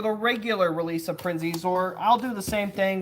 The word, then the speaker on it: Xizor: Prince Exizor. It's pronounced Zizor.